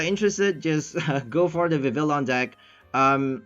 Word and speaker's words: Vivillon: the Vivillon deck um I didn't realize that I was using the wrong name for it I called it I pronounced it the wrong name I called it viveillion for so long and then after posting